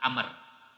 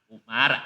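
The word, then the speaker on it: عمرو: Ya, sebutan yang kedua bukan Umar, Amr. Ini nanti kalau dalam ee apa kitab-kitab nahwu tuh Umar ain mim ro itu bacanya Umar. Kalau habis ro ada wau bacanya bukan Umar Amr.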